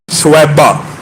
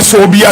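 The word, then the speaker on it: ثویبہ: سویبہ، جس کو بعض اردو دان کم علمی کہہ لیجئے یا عربی تلفظ سے ناآشنائی کہہ لیجئے صوبیہ کہتے ہیں۔ صوبیہ اور سویبہ میں زمین آسمان کا فرق ہے۔ ان کا اصل نام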